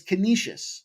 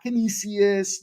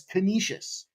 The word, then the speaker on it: Canisius: It's Canisius, not Canisius. It's Canisius. Canisius. You ever hear anybody call it Canisius, automatically discount what they know about that team because they don't know shit if you can't say it right.